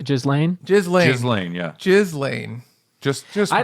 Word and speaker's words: Ghislaine: Or Gisane? Ghislaine? Ghislaine.